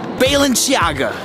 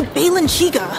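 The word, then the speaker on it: Balenciaga: do you well but how do you say this melon do you know baylin's Yaga you guys it's obviously Balin chica yeah that's the designer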